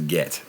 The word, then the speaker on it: git: It's again, it's something of John to rhyme cigarette with git, but pronounce it as get.